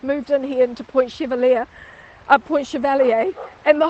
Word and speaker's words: Chevalier: we are on point chevalier so it's a bit of a um standing joke in new zealand that we do call it point chevalier when it probably should be point chevalier so we have an